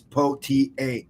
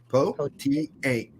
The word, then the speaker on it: Pothier: My name is Pothier, and if you're having your trouble pronouncing it since it's French, it's Pothier. Okay, Pothier. That's it.